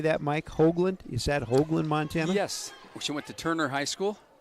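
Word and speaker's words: Hogeland: Is that Hoagland, Montana?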